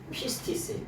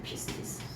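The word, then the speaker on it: πίστις: 믿음을 뭐라 그러냐면 faith라고도 얘기하고 헬라어로 말하면 피스티스예요. 피스티스. 이걸 피스티스라고 읽는데 이 피스티스라고 하는 말을 뭐라 그러냐?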